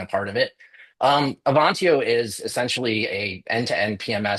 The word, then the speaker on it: Avantio: So what is Avantio?